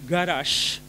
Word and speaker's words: garaxx: Jekk jien ngħid garax, tifhem, it-tieni sillaba hija ċċentata, allura tirrikjedi id-doppja garax.